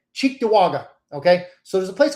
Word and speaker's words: Cheektowaga: It's an Indian name, so you probably wouldn't pronounce it well if you read it. Cheektowaga.